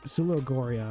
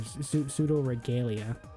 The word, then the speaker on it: Pseudoregalia: Oh yeah, Pseudogoria or Pseudoregalia. Cause I always say it wrong for some reason.